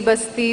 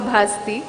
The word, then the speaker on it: ಭಾಸ್ತಿ: ಬಗ್ಗೆ ಹಲವು ಚರ್ಚೆಗಳನ್ನ ಕೇಳಿದ್ದೇನೆ ನನ್ನ ಸರ್ನೇಮ್ ಅನ್ನು ಭಾಸ್ತಿ ಬಸ್ತಿ ಬಸದಿ ಬಸಂತಿ ಅಂತ ಏನೇನೋ ಬೇರೆ ಬೇರೆ ಸ್ಪೆಲ್ಲಿಂಗ್ಗಳಲ್ಲಿ ಯದ್ವತದ್ವ ಉಚ್ಚಾರಣೆಗಳಲ್ಲಿ ಹರಡಿವೆನಾನು ನಾನು ದೀಪ ಭಾಸ್ತಿ ಮೂಲ ಊರು ಸಾಮಾಜಿಕ ಸಾಂಸ್ಕೃತಿಕ